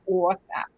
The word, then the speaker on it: OSAP: OSAP. Isn't that how you say it? Yes. I like to accent that AW really hard.